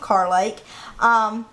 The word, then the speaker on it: Carr Lake: Some people would pronounce it Kerr, but here we pronounce it Carr Lake.